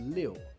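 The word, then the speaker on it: 六: Incidentally, this is the Chinese sign for six, which is pronounced as liu, which also sounds like niu, which means awesome, or badass, which is exactly the result of too much protein.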